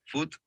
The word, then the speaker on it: foot: You can see the rounder of the lips. Foot. Remember that foot is how you pronounce it.